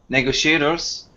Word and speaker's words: negotiator: word tactic too and this one is pronounced like negotiator negotiator so it has The Negotiator negotiator yeah negotiator yeah good so the syllable stress there is on that word and the syllable go good job okay yeah